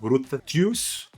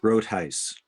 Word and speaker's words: Groothuis: en los libros "Christian Apologetics" de Douglas Groothuis Gruthus Grutuis Gratuis Douglas, ahora vas a tener que ayudarme a pronunciar Grutis, ¿es eso correcto? Groothuis Groothuis Dr.